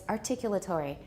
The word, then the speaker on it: articulatory: articulatory targets all right that sounds sort of British although my British teacher doesn't say it that way it's articulatory everybody please remember it